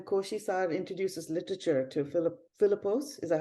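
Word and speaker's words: Philipos: the book when koshishar introduces literature to Philip philippos is that how you pronounce it yes uh he's and he says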